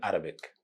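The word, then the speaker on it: عربي: Even the word Arabic, if you are going to translate it into Arabic, we will not say Arabic. We will say Arabi, Arabi, Arabi, Ghein, Arabi.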